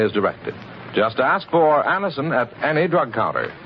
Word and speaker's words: Anacin: Just ask for Anacin at any drug counter. It's spelled A-N-A-C-I-N.